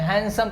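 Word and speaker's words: handsome: और एक कोलोकेशन भी है हैंडसम मनी, और इसको हैंडसम नहीं पढ़ते, डी साइलेंट है, हैंडसम पढ़ते हैं, ठीक है।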